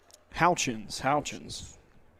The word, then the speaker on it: Houchins: The first pitch will be a ball, and Houchins is his name. That's how you pronounce his name. Yeah, not Horkins.